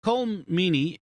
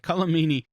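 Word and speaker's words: Colm Meaney: uh one thing to note is that um cole meaney column i gotta make sure i say it right colomini is not in this episode uh and he's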